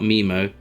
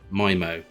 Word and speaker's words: Mimo: to download oh okay it's not memo memo is my moment mimo okay that's easy pronunciation